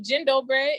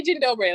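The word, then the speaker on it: dzień dobry: and thank you okay so jin dobre is how you say basically good day or hello that's how you greet it kinda seems a little french yeah jindal bray it's it's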